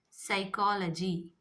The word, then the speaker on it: psychology: Psychology. Psychology. P silent.